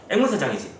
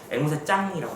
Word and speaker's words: 앵무새장: 자연스럽게 그냥 발음하면 앵무새장이잖아. 어떤 유튜버가 이제 앵무새장을 소개하는데 처음부터 이상한 거야. 왜 이렇게 좀 꺼리끼는 느낌이 들지? 정상적으로 소개는 하고 있는데 되게 꺼리껴. 그런데 가만히 들어보니까 이 사람은 앵무새장을 앵무새짱이라고 말해요.